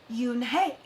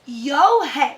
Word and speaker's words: Unhei: no no unhei corrected it's spelled u n h e i it's pronounced yoon hey oh it's yo hey said the boy like you hey what about hey you